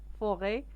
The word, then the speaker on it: forêt: L'aventure هي المغامرة en forêt في الغابة.